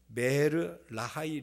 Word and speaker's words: 브엘라해로이: 그 샘의 이름을 붙였습니다 브엘라해로이 본래의 발음은 베르라이 로이입니다 엘은 우물을 뜻하고 하이는 살아